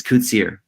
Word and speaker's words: Koetsier: Is it Koetsier? That is pretty close. It's a smart mispronunciation. It's Koetsier.